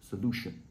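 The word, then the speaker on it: EZolution: The name I've given to this method is Zolution, spelled with an E-Z. So E-Z-O-L-U-T-I-O-N, Zolution. And what it stands for is 0-degree overlap view universal three-dimensional wiring. 0-degree, the EZ gives you the Z.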